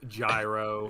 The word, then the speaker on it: gyro: a a yo AO it's pronounced gyro it actually is a gyro I think however you